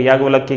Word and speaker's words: याज्ञवल्क्य: नारद और याज्ञवल्क्य, याज्ञवल्क्य की स्पेलिंग यहां गलत लिखी हुई है, लेकिन ज्ञा आएगा उसमें, ज्ञान वाला ज्ञा, ठीक है।